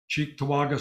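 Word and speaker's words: Cheektowaga: supervisor and organizing committee leader at the chi Chek toaga hope I pronounced that right Chek toaga store uh Lex led her store to file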